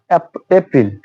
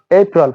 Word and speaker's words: April: তো জানুয়ারি, ফেব্রুয়ারি, March, এপ্রিল, it will be not April, it will be April.